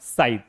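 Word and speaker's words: scythe: Silent क्या हो जाएगा? साइड।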